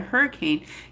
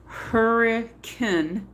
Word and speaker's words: Hurricane: been struck by a hurricane giving rise to the name. Locals pronounced the town hurricane not hurricane.